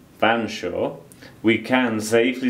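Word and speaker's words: Featherstonhaugh: valley whatever the history of featherston hall now usually pronounced banshaw we can safely say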